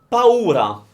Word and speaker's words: paura: Paura. So it's pa, u, ra. Paura. Paura. So again, pa, as in when you're calling your dad, pa, or grandpa, isn't it? Pa, u, ra.